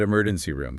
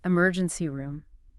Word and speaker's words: emergency room: all right how about emergency room give that one a try emergency room again pay attention to the stress it's on the first syllable of emergency and the second syllable of room perfect now let's say